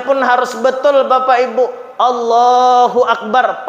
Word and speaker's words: Allahu akbar: harus betul Bapak Ibu Allahu akbar pakai Alif pakai Hamzah jangan jadi wau Allahu akbar ah salah ya maka anak-anak kita ini kita Ajari kita perhatikan kita awasi Bacanya apa Allahu akbar jangan wakbar dan juga n jangan